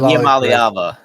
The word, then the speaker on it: Iamaleava: Nico I'm pronouncing I'm saying that Iamaleava.